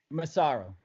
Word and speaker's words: Massaro: Massaro.